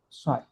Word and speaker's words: psi: P is silent, and this symbol is known as the psi.